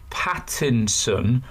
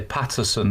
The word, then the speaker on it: Pattinson: this week uh Robert Pattinson I think it's quite difficult to say his name you know the the TV and film star I think everyone wants to say Patterson don't they I think people call